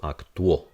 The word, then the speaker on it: actuó: So here on the top, notice that the stress mark is on the O. So what this means is the syllable gets split here. This becomes a glide. So this is going to sound wo at the end.